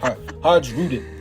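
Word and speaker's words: Hajrudin: Har Hajudin. That's how you say it. I'm sorry, y'all. I'm sorry. I can't remember. Anyways, Haj Hajudin.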